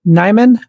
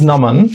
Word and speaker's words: Naman: the program okay and is it nyman am I pronouncing for next my name is Naman that's how you pronounce it thank you yes yeah